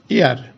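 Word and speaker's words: heir: তারপর এখানে উচ্চারণ হচ্ছে এইচ ই আই আর, তার মানে এর উচ্চারণ হবে এয়ার, অ্যান এয়ার। এইচ এর উচ্চারণটা এখানে উজ্জ্ব আছে, এইচ এর উচ্চারণ হচ্ছে না, তার মানে এটা সাইলেন্ট আছে এখানে।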